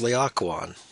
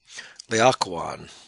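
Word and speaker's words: Laocoön: This word being even stranger in terms of an English word, it's pronounced Laocoon. Laocoon.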